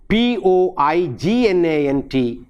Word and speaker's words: poignant: christian and again we have a word like p-o-i-g-n-a-n-t it is poignant not poignant the same way